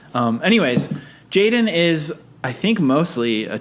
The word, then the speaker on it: jxdn: born in 2001 uh known professionally as jxdn stylized in all lowercase i'll remember that for the episode and pronounce jaden i mean maybe just